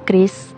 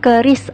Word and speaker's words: QRIS: lain-lain kayak gitu sih Kris itu dikembangin oleh Bi agar semua transaksi itu bisa jadi cepat dan mudah Oke jadi bacanya yang tepat itu Kris ya bukan keris atau curiis Oke lanjut menurut Kak